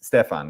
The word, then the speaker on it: Stephen: You know, moving to Norway, it's like has helped because uh here actually um the name it like is Stefan. It's it's how it's pronounced.